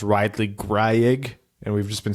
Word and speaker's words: Greig: drafted and turns out his name is like pronounce rightly Greig and we've just been saying it like this entire time if he pronounces it that way I'm gonna pronounce it Ridley Greg for the rest of his career out of